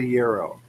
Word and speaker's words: gyro: Greek word okay well does Greek have a silent G then yes well you're saying that very quickly is that very true or do you want it to be true a Greek recipe it's a gyro the gyro so it